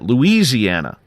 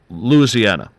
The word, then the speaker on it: Louisiana: Because I was pronouncing it Louisiana. And he's like, no, Louisiana.